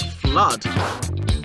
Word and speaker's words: flood: The first one is flood, and the second one is loot. The OO in flood has an sound, whereas the OO in loot has an oo sound.